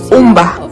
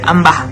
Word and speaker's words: Umba: Umba. Yes. That's the right pronunciation, right? It's Umba. Mrs. I used to say Amba. Amba, yeah.